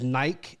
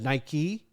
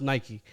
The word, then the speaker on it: Nike: uh uh Europe was Nike instead of Nike uh I hate to say it it was named here in the United States so it's pronounced Nike uh but they people